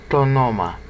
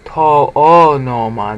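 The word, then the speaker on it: τὸ ὄνομα: Tonoma. Now you have to say tonoma because if I say to-o-noma, that's considered inelegant. Even in the time that John's writing.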